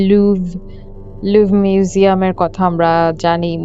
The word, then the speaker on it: লুভ: এবং আবারো একটা ফ্রেঞ্চ শব্দ হচ্ছে লুভ।